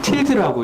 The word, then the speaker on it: tilde: 이거 물결 표시를 정확한 명칭이 뭡니까? 우리는 이때까지 계속 물결로 읽었죠. 네. 이걸 틸드라고 읽더라고요.